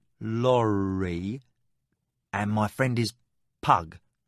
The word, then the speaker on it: Pug: Master Lori and my friend is Pug, not Poo.